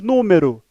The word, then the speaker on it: número: Posto isso, temos número, número. São 3 sílabas, sendo que a antepenúltima sílaba vai apresentar, neste caso, a sílaba tônica, que está aí bem destacada, nu.